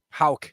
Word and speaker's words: Houck: How do you say that name? I don't even know. He's 9-10 with a 3.12 ERA. It's Houck. There you go.